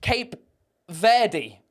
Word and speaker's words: Cape Verde: It's almost uh Okay, so it's pronounced Cape Verde.